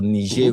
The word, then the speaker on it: Niger: nij okay yes yeah it's French it's not it's not English so is nij republic